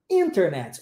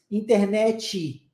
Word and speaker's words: internet: quer ver um exemplo a própria palavra internet internet olha como é que o foco é no n no início da palavra só que aqui no Brasil o que que a gente faz internet dá o foco lá no final e